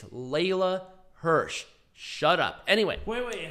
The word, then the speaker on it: Leyla: People bitching me about me mispronouncing Layla's name. It's Leyla Hirsch.